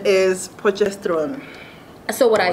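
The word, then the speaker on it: Potchefstroom: your hot chef room hot chef's room process room process room the actual pronunciation is pochestron so what i said something i heard i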